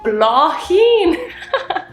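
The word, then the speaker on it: Bláthín: Answer ban BL oh Blen okay so maybe the th does not make Blen that's actually a cool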